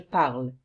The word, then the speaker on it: parle: You don't say je parle. You say je parle.